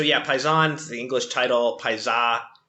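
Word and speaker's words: Paisà: Um so yeah, Paison, the English title Pisa, the Italian title, um with an accent on the the last a um came out in 1946.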